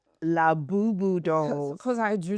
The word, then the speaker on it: Labubu: When Abig first came, she said, lava lava. Like, no, it's not lava lava. It's Labubu.